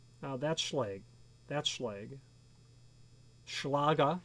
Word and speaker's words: Schlage: a conventional core sergeant schleg conventional core meaning it's not removable or interchangeable core now that's schlage that's schlage schlage as they say in german that's how that's pronounced i know on good